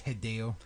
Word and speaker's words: Hideo: It's Hideo. I'm going to stand up for that. That's fucking weird American pronunciation.